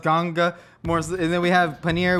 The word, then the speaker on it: Ganga: Like the river, the waters, some people call it Ganges, but I think it's pronounced Ganga.